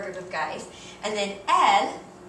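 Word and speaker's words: elles: of guys and then L which again sounds just like the word for she only has an S on the end but that s is silent so those are the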